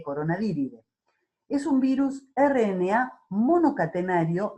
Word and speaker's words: Coronaviridae: Se escribe Coronaviridae, pero se lee Coronaviridae.